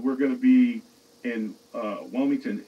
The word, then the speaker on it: Wilmington: But do you mean Wellington or Wilmington? Wilmington.